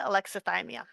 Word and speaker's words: alexithymia: Um, so I've heard this pronounced a bunch of different ways, but I've heard it pronounced by people from 6 different countries. So I'm going to pronounce it alexithymia.